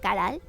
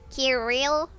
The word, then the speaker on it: Caral: It's pronounced Caral. It's written like this. Kirill. Maybe you would pronounce it like that.